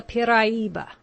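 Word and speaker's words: piraíba: It is called the piraiba, pronounced in 4 syllables.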